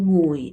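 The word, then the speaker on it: ငွေ: ไป สั่ง นะ คะ จริง ๆ คำ ว่า เงิน นะ คะ ใน ภาษา พม่า จะ ออก เสียง ว่า งุย นะ คะ อ่า คำ ว่า ไปซาง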